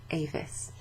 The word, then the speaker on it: avis: Avis. But we pronounce it avis, okay?